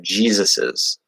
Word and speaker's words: Jesus's: So we would pronounce it like something kind of like this. It'd be like Jesus, and then donkey. I won't do donkey phonetically, it doesn't matter. But yeah, Jesus's, which Jesus is, sorry.